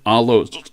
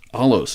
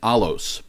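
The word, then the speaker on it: ἄλλος: now the greek word translated another here in verse 1 is the word allo allos excuse me sorry pardon me this is the greek word alos a-l-l-o-s as we spell it with our letters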